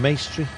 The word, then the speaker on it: Maestri: seconds ahead of welcome maestri rhymes with pastry um yeah any viviani